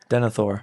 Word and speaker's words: Denathor: Denathor.